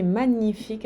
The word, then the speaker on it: magnifique: Eu lembro que magnifique, a gente não pronuncia nunca o G, magnifique.